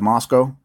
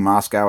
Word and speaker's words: Moscow: City here you have Moscow please stop saying Moscow it's pronounced Moscow and no we don't